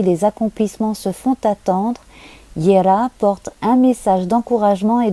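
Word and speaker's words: Jera: la rune des moissons qui s'appelle Yera j e r a donc ça s'écrit ja ça se prononce Yera donc je vais vous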